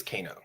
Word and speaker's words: Kano: It's Kano. Kano. Kano. Okay. Yeah. Like Mortal Kombat, right?